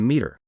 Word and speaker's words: METRR: you want to know integrated project program management maturity and environment total risk rating pronounced ip2m meter quantitatively measures a Project's